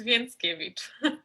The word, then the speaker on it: Więckiewicz: spell your name yes my last name is vince kevich i wanted to make sure that i don't completely ruin the pronunciation here so on the barricades we discussed